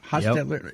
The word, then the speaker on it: Hostetler: Hostetler, is that how you pronounce it? Hostetler.